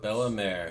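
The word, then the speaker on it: Bellemere: right yes she was Bella May so that's how you pronounce it cool haircut that's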